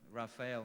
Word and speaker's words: Raphael: And I said to myself, Raphael must rhyme with Israel, so he must think I'm from that community.